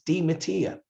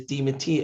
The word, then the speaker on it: DiMattia: other singer-songwriters, and also my last name is the proper pronunciation is DiMattia. Oh, DiMattia. But it's funny that you said DiMattia because my father used to say DiMattia, and it was his last name. But the irony is, and my mother used to say DiMattia, and the irony is DiMattia is the proper way.